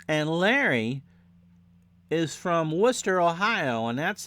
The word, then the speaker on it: Wooster: a gain of 3 and Larry is from Wooster Ohio and that's how it's W oo s